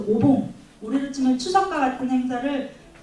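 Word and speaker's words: お盆: 그래서 봉, 그러니까 우란분의 분을 봉이라고 읽는데 앞에다 오자를 붙여서 오봉.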